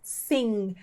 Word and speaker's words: sing: é o verbo cantar sing e o g é bem fraquinho tá então to sing para